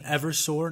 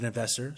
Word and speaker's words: Eversor: become an um an eversor not an avor sorry for my mispronunciation there um just AER it just sounds so easy to say rapidly but an Evers sore